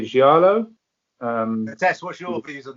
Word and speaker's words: Giallo: I want to say Giallo. Tess, what's your views on that? Is that exactly what you would pronounce it with? Yeah, Giallo, yeah. I'd say Giallo. Just make it sound as Italian as possible.